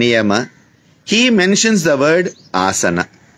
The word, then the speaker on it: asana: he mentions the word asana ah is long asan it's not asana you have all these